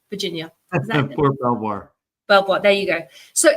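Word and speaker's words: Belvoir: words how do you say it Mike for belir Virginia Fort belir BVO there you go so if you are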